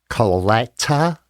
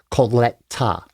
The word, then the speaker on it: Colletta: My name is Coleta. And you pronounce it the way it is spelled if you do it through the hyphens. C O L L E T cola t a coleta coleta I have gotten my